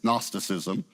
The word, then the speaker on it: Gnosticism: The G is silent. It's Gnosticism.